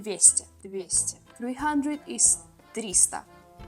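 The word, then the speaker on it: триста: 200 is the best the best 300 is Trista it's pretty easy because it's like if it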